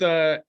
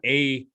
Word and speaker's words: Ayr: Well, let's just start off with Ayr Wellness. It's a vertically integrated company. Is it an MSO technically? Tell us a little bit about that. It's not AYR Wellness.